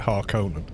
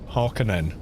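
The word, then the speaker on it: Harkonnen: Although Frank Herbert actually said he pronounced it Harkonan Harkinen.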